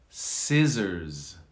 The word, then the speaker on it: scissors: science two s's science scissors notice there's a z on the end not an s scissors here we have